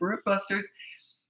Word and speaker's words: Bratbusters: I keep calling it bootlegger, Bratbusters.